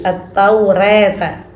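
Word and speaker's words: التوراة: ta kemudian yang ketujuh bacaan takqlil pada alifnya lafal ataurah di semua di dalam al-qur'an setiap ataurah dibaca taklil taklil Ini cara membacanya eh sepertiga ke fathah fathah antara fathah dan imalah antara fathah dan imalah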